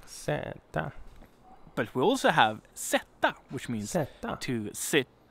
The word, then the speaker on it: sätta: But we also have sätta, which means zeta. To sit. Down or to put or set something. Sätta.